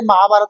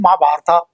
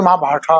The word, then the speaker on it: महाभारत: ठीक है भाई, हमारे महाभारत को महाभारता बोलते हैं, कोई महाभारता बोलता है। महाभारत बोलो ना, बोलो, क्यों नहीं बोल रहे? शुद्ध तो महाभारत है, क्यों नहीं बोल रहे हो?